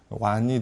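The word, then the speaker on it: 皖: 이 안휘성의 약칭은 환이라고 합니다. 환이라고 하고 중국어 발음은 이 경우에는 완이 되는데요.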